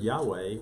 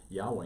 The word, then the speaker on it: Yahweh: So, for example, the word Yahweh, which has 6 letters, the name of God, only has 4 letters in Hebrew. Mhm. Yod Ha Veh Ha, YHVH. V is pronounced, we pronounce it as a W, but at any rate.